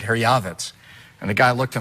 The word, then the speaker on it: Herjavec: Herjavec? You know, the proper pronunciation, you'll be the only guy to ever hear this on TV, is actually Herjavec.